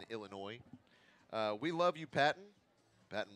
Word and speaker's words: Illinois: The S is silent in Illinois.